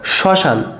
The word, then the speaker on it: শ্মশান: রয়েছে জাস্ট চন্দ্রবিন্দর হবে দেখো ম ফলা যদি শুরুতে থাকে চন্দ্রবিন্দর লিখতে হবে এখানে দেখো শ্মশান তাহলে এখানে মফলা শুরুতে রয়েছে আমাদের প্রথমে দেখো তালবসার উপরে কি দিতে হবে?